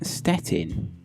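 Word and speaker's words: Szczecin: so how is that stetin it's like you don't pronounce the Zeds but the C's are actually T's I think I don't know I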